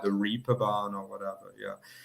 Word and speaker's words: Reeperbahn: Yeah, and Ben, it's not the Reeperbahn, like the actual German, they say like Reeperbahn. It almost sounds like the word that. But yeah, the English people, because they don't get the A sound, the A with the two dots on it, basically.